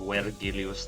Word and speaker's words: Vergilius: I always pronounced it Vergilius, that's my Latin coming through.